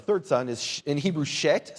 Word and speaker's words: Shet: Seth, the second son there, or the third son, is in Hebrew Shet. Say Shet.